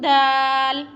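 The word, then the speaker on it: د: Dal pronounced from the tip of the tongue touching the roots of the top two front teeth.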